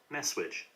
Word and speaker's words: messuage: Isn't it Messuage? I think it is it? Messuage. Let's listen to it. Messuage. Messuage. Messuage. Messuage. Yeah, Messuage. Messuage. Yeah, you'll hear me pronouncing that incorrectly as well.